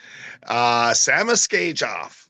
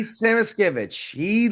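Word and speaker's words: Samoskevich: Samaskejov, right? Did I pronounce it right? Aki Samaskevich, Samaskevich, he yes, and looked he he, took.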